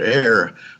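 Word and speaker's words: ἀήρ: Paul writes about the prince of the power of the air, and he uses the Greek word air, which is spelled in Greek alpha epsilon rho, but it's pronounced just like we pronounce air.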